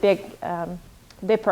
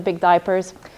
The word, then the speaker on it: Big Dipper: I always have to think, because in French it kind of pronounced it a bit like diaper. So I said that in class 1, the constellation of the Big Diapers.